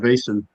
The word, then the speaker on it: Vaesen: I call it Vaesen. Mm-hmm. Some people say Vaesen. I don't know. I'm not Vaesen. Swedish, so I call it Vaesen because I'm from Maine and I barely speak English as it is.